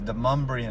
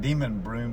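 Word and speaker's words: Demonbreun: here like I said this is deuman street it's spelled de m d e m o n b r e u m like demon broom but it's a n for this uh named after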